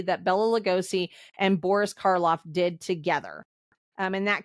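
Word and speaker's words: Karloff: not mention Boris um I always say his last name wrong it's car car Boris carof caroff anyways he and carof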